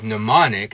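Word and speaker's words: mnemonic: not in their bag we see a similar thing happening with pneumonic as in pneumonic devices where we drop that M sound but when we get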